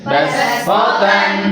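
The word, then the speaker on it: بَصْۜطَةً: Kemudian basto shotnya harus dibaca sin juga. Bas potan. Basfatan.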